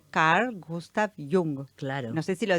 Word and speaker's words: Jung: aprovechar, porque viste que muchas veces algunas personas lo nombran como Young, porque les suena norteamericano, pero no, él era suizo. Claro. Entonces su nombre se pronuncia Carl Gustav Jung.